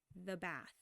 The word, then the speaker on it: bath: Bath. Bath. Bath. Bath. Bath. Once you get comfortable saying it by itself, put it into really short phrases. I always recommend using the before the word, the bath.